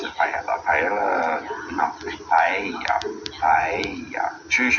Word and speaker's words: paella: You pronounce it somewhat like a Y, depending on what country you're from and everything. At least here in Spain. It's like when people normally pronounce the word paella, a lot of English will pronounce it paella.